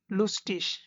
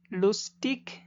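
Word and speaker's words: lustig: আমাদের এখানে প্রথম ওয়ার্ডটা হলো লুস্টিস। লুস্টিস, এখানে ই এবং গে ওয়ার্ডের শেষে, তাই নর্মাল যে উচ্চারণ ইক হওয়ার কথা ছিল, যেমন লুস্টিক, এই লুস্টিক না হয়ে হবে লুস্টিস।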